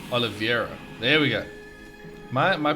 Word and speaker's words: Oliveira: and for some reason I read it as Oliveira, like I-E, not E-I. Don't know. No idea. Like, I don't even know anyone called Oliveira. I don't know. So it's Oliveira.